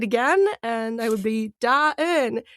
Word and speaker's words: Da Eun: And I would be Da-in, right? And then at some point I'm like, okay, so it's dawn, but you break it into two syllables. So it's Da-in, right?